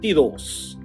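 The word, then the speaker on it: veintidós: When it comes to number 22, the pronunciation is bent. Bentidos.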